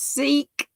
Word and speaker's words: Sikh: all kinds of stuff it's pronounced seek thank you jacksie okay